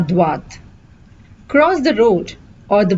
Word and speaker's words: droit: would say tourner à droite. Tourner à droite. The difference here is you say droit. You don't pronounce the T here, but here you pronounce the T. Tout droit. À droite.